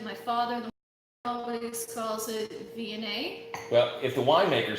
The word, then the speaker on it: Viognier: You said Viognier. Mm-hmm. We pronounced it Viognier in the past.